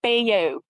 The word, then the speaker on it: Bayeux: that the Bayeux tapestry, I've been told it's pronounced Bayeux by Francis when he was briefing. Well, no, that's how we pronounce it often in English. So, I'm sure that the French have the correct pronunciation of it.